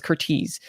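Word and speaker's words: Curtiz: so it's hard to like no but it's curtis uh caught myself but this romantic drama is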